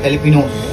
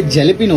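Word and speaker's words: jalapeño: अच्छा ये इसका नाम जो ये जेलेपिनो होता है, मगर ये इसको प्रोनाउंस करते हैं एलेपिनो, एलेपिनो जे से लिखा होता है लेकिन ये जे साइलेंट होता है बिल्कुल, ये अंग्रेजी मिर्ची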